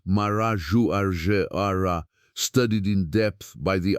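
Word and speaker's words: Marajoara: Here from around the year 400 to the year 1300 after Christ flourished the Marajouara culture pronounced Maraju Aar studied in depth by the archaeologist Anna Roosevelt.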